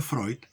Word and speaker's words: Freud: García, y dice, Freud o Freud, pero se pronuncia Freud, y la fagocitosis de la inmoralidad masónica en el hombre, de Roberto García, psicólogo.